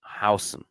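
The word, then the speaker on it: Huijsen: Still working on that pronunciation, but according to my very, very good Dutch friend, Diego Lorin, it's Dean Housen.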